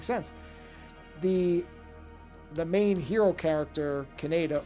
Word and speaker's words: Kaneda: The main hero character, Kaneda, or I guess as it's supposed to be pronounced, Canada, and I really just can't wrap my head around pronouncing it that way.